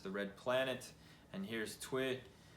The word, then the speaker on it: Tyr: red planet, and here's Twi. And it's spelled a little different in some places. Sometimes it's with the E and the I and all that, but it's Twi, and or Tyre, and he is a one-handed.